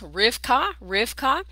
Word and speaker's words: Rebekah: Rebekah is pronounced Rivka, and it means ensnarer.